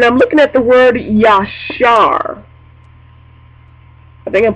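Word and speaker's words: ישר: I'm pronouncing that right yashar it's a y a s h a r and the and the Phanatic spelling is y a w- s h a r with the emphasis on the r and it means Amen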